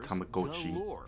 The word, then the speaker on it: Tamagotchi: You've got to pronounce the Japanese way, huh? Tamagotchi.